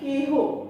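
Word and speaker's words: কেহ: যে তারপর দেখো কে হো, হ্যাঁ একার আছে, তারপর হ আছে, সেই কারণে এর উচ্চারিত রূপ হবে একারের মতো, কে হো।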